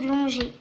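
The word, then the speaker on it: Longuet: Claude Longer. L O N G U E T. C'est l'anglais. Ça se prononce l'onger.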